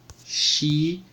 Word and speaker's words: shi: Sa, Shi, Su, Se, So. Observem uma coisa, que o Shi ele vai ser escrito com SH, porém a sua leitura é de X, tá?